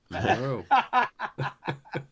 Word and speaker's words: Monroe: Monroe.